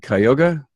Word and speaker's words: Cuyahoga: John Cooper, partner at ECP Auto Repair and Service in, let me say this right, Cuyahoga Falls, Ohio?